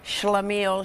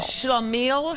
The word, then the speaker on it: shlemiel: Shlemiel Shlamazel. Shlemiel Shlamazel.